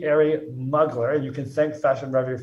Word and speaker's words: Mugler: have the pronunciation guide it's muggler it's not mu glare it's been said so many different ways terry moogler terry mugley the proper pronunciation is t arie muggler you can thank fashion